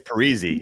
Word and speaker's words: Parise: He comes out and says, "Actually, you guys have been saying my name wrong the whole time." It's Parisi.